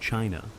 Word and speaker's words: qi: In ancient China, health was never just about flesh and bone, it was about energy. The invisible, vital force called qi, pronounced chi, flowed through every living being.